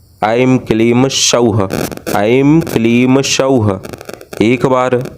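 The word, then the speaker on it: ऐं क्लीं सौः: यह त्रिअक्षरी बीजों से माता श्री बाला सुंदरी जी का मंत्र बनता है, ऐम क्लीम सौह, ऐम क्लीम सौह। एक बार उच्चारण को आप पुनः ध्यानपूर्वक अवश्य सुने। ऐम क्लीम सौह, ऐम क्लीम सौह।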